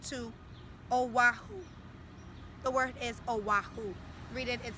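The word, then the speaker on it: Oʻahu: sister P fled to aahu the word is aahu read it it says aahu beautiful the next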